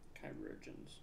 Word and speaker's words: chirurgeons: Chirurgeons. That's how you spell it. And that's how you say it.